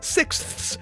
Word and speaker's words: sixths: do you mean that's that's how it's said sixths sixths I don't like it but that's that's what it says so I've tried to